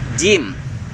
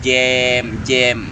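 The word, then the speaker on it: جيم: Jim, jangan jem.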